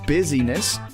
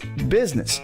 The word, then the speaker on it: business: same thing with the word business it's not busyness it's not business either I've heard that too it's business to syllables Biz Miss sometimes it even gets shortened